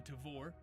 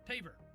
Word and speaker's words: Tavor: You don't just carry a Tavor, you pronounce it correctly. That's Tavor, for all you out there. And you correct other people who don't, like Tavor, or Taver, or Taver.